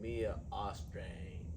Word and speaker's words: Mia Austreng: And today I have the honor of having Mia Austreng.